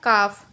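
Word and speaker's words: calf: एल हमारा silent होगा, जैसे कि सी ए एल एफ। इसको हम काल्फ नहीं पढ़ेंगे, इसको पढ़ेंगे काफ, हाफ।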